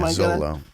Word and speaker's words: Xolo: But his first name is how do you pronounce the X? His name is XOLO. It's like, is it Z? Is it Zolo? Yeah, Zolo.